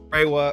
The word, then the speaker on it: Reiwa: So like there's the Showa era, like Reiwa, or however you pronounce it. Reiwa, you got it.